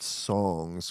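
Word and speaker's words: Psongs: jonah matranga and the album is called songs but with a p in the front side like a silent p search that if you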